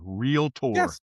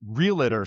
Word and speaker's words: Realtor: But this real litter stuff I'm not going to tolerate.